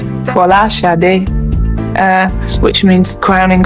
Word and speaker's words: Folasade: Actually, my true Nigerian name, or the true Nigerian pronunciation, or as close as I can get to it, is Folasade.